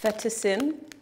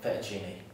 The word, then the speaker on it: fettuccine: I don't really know how to pronounce it. Fettuccin. Tia, it's fettuccine.